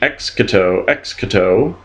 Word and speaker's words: exito: recommend command or entrust exito excuse me EXO EXO Accent on the first syllable Rouse arouse incite stimulate